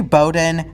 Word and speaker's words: Bowdoin: Bean, and finishes at the college town of Brunswick, home to Bowdoin College, and yes, I can finally pronounce it correctly, and a gateway to some of the most beautiful coastlines on the East Coast.